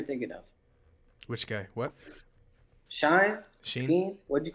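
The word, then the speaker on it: Chine: of which guy what shine what'd you call him it's pronounced sheen apparently a c-h-i-n-e i think oh where is he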